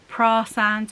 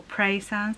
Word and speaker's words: Praa Sands: stayed the night near Praa Sands or Praa Sands, depending on how you say it, and that was a kind recommendation, so thank you very much.